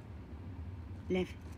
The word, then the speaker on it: Lev: Lev, hay que bajarla. Ya voy. Lev. Pero es que parece que diga Lev, ¿no? Con F.